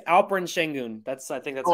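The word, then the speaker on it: Alperen Şengün: words oh yeah wait did I say the name wrong it's uh I think it's alperin shengun that's I think that's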